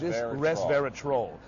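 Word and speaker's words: resveratrol: newspaper now without seeing R verat troll right that's how you know got to pronounce it right like a troll under the bridge res res verat troll this is troll oops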